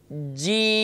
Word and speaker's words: جیم: زبان درمیان تالو سے، تو اس کو ادا کرتے وقت اکثر محسوس ہوتا ہے چی چی، تو چی نہیں بلکہ عربی کے اندر چے ہے ہی نہیں بلکہ وہ اردو کا ورڈ ہے، تو یاد رکھیے اسے